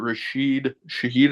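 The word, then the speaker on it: Rashid Shaheed: and a half okay I like uh Mr rashed Shahid is how you say his name yeah yeah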